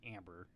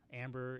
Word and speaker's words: Ambar: For the spelling of her name is Ambar, but I'm assuming it's pronounced Amber.